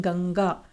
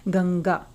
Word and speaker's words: गंगा: जब हम गंगा को बोलते हैं, गंगा शब्द का उच्चारण करते हैं, तो अपना पूरा ध्यान आप इसके उच्चारण पर लगाइए। आप पाएंगे जो बिंदु है, जो अनुस्वार है, उसकी आवाज हम नाक से निकाल रहे हैं, गंगा।